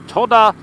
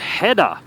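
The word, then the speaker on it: 戸田: Well, since we are coming into the Toda Harbor. Look at that. What a view. Alright, we're inside the Toda. Oh, it's pronounced Heda. My apologies. That kanji can be pronounced Toda or Heda in both ways.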